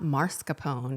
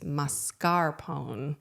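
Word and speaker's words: mascarpone: been pronouncing it wrong it's not marscapone it's masarone I have no idea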